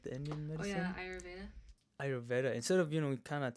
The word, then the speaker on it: Ayurveda: Ayurveda, like the Indian Oh yeah, medicine? Ayurveda.